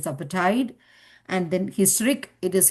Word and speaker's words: apartheid: Similarly, apartheid, it is apartheid.